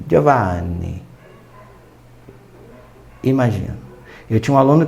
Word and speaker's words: Giovanni: Eu vou dizer Giovanni. Imagina se eu disser Giovanni, Giovanni. Porque na Itália, como tem letra dobrada, eu tenho que estender a sílaba. Giovanni.